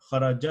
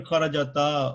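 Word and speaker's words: خرجت: Is it Kharajat? You stopping at it. Sakun means you come to a stop. Kharajat. Oh, okay. All right. Right? Fair. Because you're not Understood. saying kharajata or kharajatu, right?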